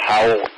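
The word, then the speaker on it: Houle: obstructing the street at ho u l e I believe that's pronounced how uh Avenue at Fruitville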